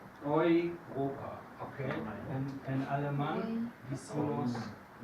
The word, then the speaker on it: Europa: Es una combinación de letras muy frecuente, EU, y siempre se pronuncia hoy, siempre.